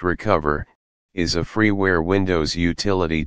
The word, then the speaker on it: Recuva: Recuva, pronounced Recover, is a freeware Windows utility to restore files that have been accidentally deleted from your computer.